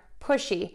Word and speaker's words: pushy: So the word is, sorry, I'm getting all tangled in my microphone here, pushy, P-U-S-H-Y, versus pussy, P-U-S-S-Y. The difference here is going to be the S-H sound versus the S sound.